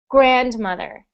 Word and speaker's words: grandmother: good next one grandmother so when we say that word we put the stress on the syllable the first syllable so we say grandmother not grandmother but grandmother and how do